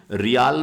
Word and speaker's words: riel: और करेंसी तो बहुत प्यारी है, रियल, रियल जो है वहां की करेंसी है। स्पेलिंग लिख दूं क्या रियल की? RIEL, रियल जो है, रियाल नहीं है, ये रियल है।